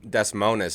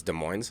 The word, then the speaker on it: Des Moines: Basically, all you're doing is you're saying that the official pronunciation is Concord and not Concord. Mm-hmm. So, what would be another place? Instead of Des Moines, Iowa, it's Des Moines.